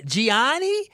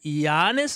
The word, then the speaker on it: Giannis: something on social media about uh Giani leaving." And I I was like, "Gannis leaving." She said, "Oh, that's how you say it."